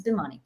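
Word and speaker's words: Bhimani: funny funnily uh actually a lot of people think my name is pronounced that way but it's not it's bimani so boomani um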